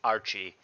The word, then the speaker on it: Rchie99: times sorry about that i now know that it is pronounced archie archie 99 against water mess so